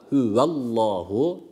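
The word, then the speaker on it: هو الله: devam ediyoruz kul hüvallah Şimdi burada huvallahu lafzatullah burada kalın okunması gerekiyor lamı teşdit bila gunne bir elif miktarı uzatıyoruz ve lafzatullah kalın demiştik yani a sesiyle okuyoruz yani a sesiyle okuyacağız ilk kelimede kul diye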